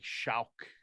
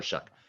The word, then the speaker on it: Shough: Shough. Oh, so it looks like Shauk. It looks like show, like Shao. Shao. Okay, anyway, Tyler Shuck.